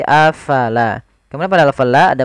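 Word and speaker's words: أَفَلَا: Kemudian afalaa taqilun. Kemudian pada lafal afala fa harus alirkan nafasnya la jangan dibaca afala tapi afala.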